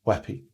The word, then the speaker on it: WebP: b p format but it's actually pronounced as weppy this is a fairly